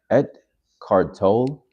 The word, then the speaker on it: Eckhart Tolle: But The Power Now, Eckhart Tolle, and that's how you pronounce it.